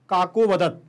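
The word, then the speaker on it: काकोऽवदत्: गलत पढ़ रहा हूं जब इसको पढ़ेंगे हम काको वदत काको वदत काको वदत काको अवदत काको वदत तो ये हमारा शुद्ध उच्चारण होगा मुझे पता है कि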